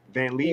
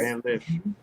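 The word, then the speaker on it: Van Lith: Van Leaf? Yeah. No, Van Lift. He's right. Van Liff.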